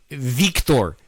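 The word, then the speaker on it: Viktor: Our director, who in this movie, Victor, and you have to say it like that because it's spelled with a K, not a C.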